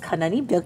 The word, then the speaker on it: Kanani: And with us today to talk about this wondrous growth is logistics specialist Kanani. Is that how you pronounce it?